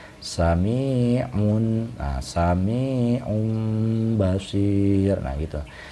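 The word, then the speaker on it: سميع بصير: Nah, cara bacanya sami'un, nah, sami'un basir, nah gitu. Jadi tidak dibaca un, nah, tidak dibaca seperti idhar, melainkan bersuara mim, sami'un basir.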